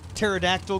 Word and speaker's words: pterodactyl: Do you know why you can't hear a pterodactyl go to the bathroom? Why, Brad? Because the P is silent.